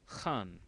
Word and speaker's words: Khan: it's the characters uh pronunciation is actually Han from the epiglottis as the character says